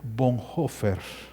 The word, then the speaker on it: Bonhoeffer: luterano se llama dietrich bonhoeffer se escribe bonhoeffer bonhoeffer verdad bonhoeffer así se escribe pero se pronuncia con hoffer lo tengo en